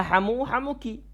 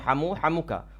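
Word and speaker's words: حَمُوكِ: Sehingga di sini hamuki kita bacanya, bukan hamuka. Walaupun di sini ada khilaf di antara para ulama. Tapi yang tepat insyaallah adalah hamuki. Walaupun nanti ada yang membolehkan membaca hamuka.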